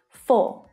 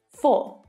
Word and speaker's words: for: Last but not least, another small but mighty English word, for. Now, when I pronounce this word, I don't pronounce the final r sound.